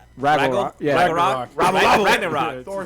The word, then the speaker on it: Ragnarok: It's like Fraggle Rock, but Ragnarok.